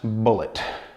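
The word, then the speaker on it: Bulleit: google how you pronounce bullet is going to come up with an interview with tom telling people it's pronounced just like the ammunition bullet and i guess some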